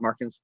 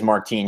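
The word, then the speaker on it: Martín: Marcos Martin, right? Is that it? Yeah, that's it. Yeah, make sure I'm pronouncing it right, because I don't want somebody to say, no, it's Martine, and then I feel like an idiot or something like that. Well, I think it is Martine.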